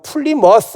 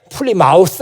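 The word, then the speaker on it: Plymouth: 것 같습니까 아는게 없어 그리고 플리머스 라고 발음을 해야 되는데 풀리 마우스 라고 발음을 하죠 보 쏜 사람이 마시오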